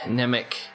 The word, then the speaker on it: Mnemic: promise you that is M and E mi C nimac the M is silent alright guys I got